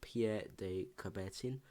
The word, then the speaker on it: Pierre de Coubertin: by the father of the modern Olympics called pierre de coubertin then that's how you pronounce his name and it says and I